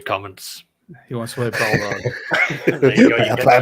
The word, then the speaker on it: Balrog: Well, Gygax did have a player playing a Balrog, so in one of his campaigns. So I guess there's precedent. Only if you can pronounce it correctly. You have to roll that R.